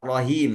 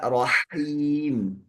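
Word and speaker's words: رحيم: Nah, ini kelihatannya rahim pakai H besar. Ah, mohon maaf, Pak. Saya pendengaran saya itu dengarnya rahim. Harus baca rahim. Sekali lagi mohon maaf. Bismillahirrahmanirrahim. Ah, masih H-nya belum kedengaran.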